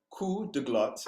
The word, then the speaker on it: coup de glotte: But coup de glotte, and I'm gonna spell that out. Silent P, hard T.